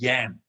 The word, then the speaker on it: Jan: people think your name's jan in this next yeah we have got a lady called jan the german pronunciation is yam okay there we go